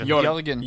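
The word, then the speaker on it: Jørgen: it's It's more like pronounced Jorgen.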